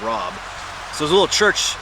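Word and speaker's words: Raab: And I found the little village of Rob on that map. It's spelled R-A-A-B, Parish of Rob.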